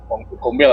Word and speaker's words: Gombel: Gombel ya. Sebenarnya bacanya gombel apa gombel sih?